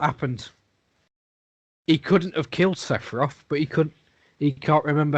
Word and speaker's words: Sephiroth: Zephyria. Sephiroth. Sephiroth. At least try to say it right.